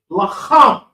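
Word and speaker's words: לחם: Okay, all right, the word is lacham. Everybody say lacham. Lacham. Lacham. Look, lacham. Lacham. Okay? It's almost like it's clearing that throat. Lacham.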